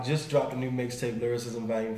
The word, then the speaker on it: Lilrickcism: Well, it's spelled Lilrickcism, pronounced Lilrickcism.